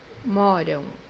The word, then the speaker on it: moram: in Portuguese mesquita, mesquita, The second pronunciation for this letter is pronounced as W or U in Portuguese. The example that we have here is verb you live, which means in Portuguese moram, moram, The third pronunciation for